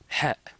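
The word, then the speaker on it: حاء: Ah oui, le ha, ça fait partie de ceux qui n'ont aucun équivalent en français.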